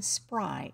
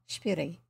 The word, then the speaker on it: Spyri: we are reading heidi by joanna johanna johanna shberry not the way i grew up saying it for some reason us as kids pronounced her name spry s s-p-r-y even though it's spelt s-p-y-r-i according